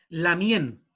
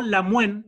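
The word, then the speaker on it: lamngen: Sí, o la muen, en otras comunidades se dice la muen. Porque ese ñen, la mien, es como una pronunciación entre una N y una Y.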